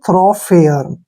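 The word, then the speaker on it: thoroughfare: को फे ऐसे फे पढ़ेंगे फे आर का उच्चारण र करेंगे फेयर ठीक है ना इसको पढ़ेंगे हम थ्रो फेयर थ्रो फेयर थो फेयर क्या होता है राजमार्ग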